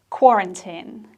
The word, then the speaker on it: quarantine: you pronounce this word it's quarantine quarantine so the problem here is straight at the beginning of the words q-u-a quarantine quarantine after having contact with